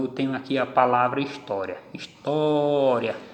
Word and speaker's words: história: Então eu tenho aqui a palavra história. História. Quando eu encontro a sílaba tônica, é essa daqui. Última, penúltima. Ela é paroxítona e foi acentuada por causa da terminação.